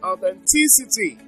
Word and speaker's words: authenticity: on stration it's Administration so we have authenticity that's five SLS so but the stress is on T so it's authenticity so we have consideration